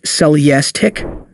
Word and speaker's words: Celestiq: As a result, Celestiq, pronounced Celestiq, manufacturing will be restricted.